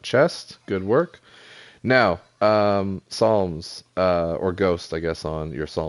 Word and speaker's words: Psalms: that's cool p-s-a-l-m-s Psalms Psalms no it's just Psalms you just don't pronounce the p it's up to you